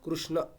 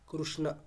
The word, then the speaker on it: কৃষ্ণ: আপনি উচ্চারণ করবেন উ এবং ই। ঋ রুই। মানে কৃষ্ণ বললে কেমন বলব? কৃষ্ণ। কৃষ্ণ। উ এবং ই এই দুটোর একটা মানে কি বলব মিশ্রণ শোনাবে একটা কথা বলব